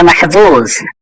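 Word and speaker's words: محظوظ: আনা মাহফুজ, এটা জ, জ এর উচ্চারণটা ঠিক মতো করতে হবে।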